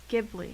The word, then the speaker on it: Ghibli: Gib. Ghibli. Like Gibby from Ghibli.